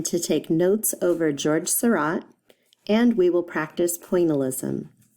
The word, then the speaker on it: Seurat: America we say it incorrectly we say George Sarat with a hard T rot and Sarat rhymes with DOT which is kind of cool and